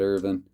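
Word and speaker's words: Irvine: 411 that goes to ted irvin according to chris jericho that is how it is pronounced chris jericho remind you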